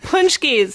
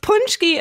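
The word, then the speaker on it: pączki: on it yeah yeah punchies not spelled like they uh sound at all because Polish people are awesome that way I love so a punchki of course is a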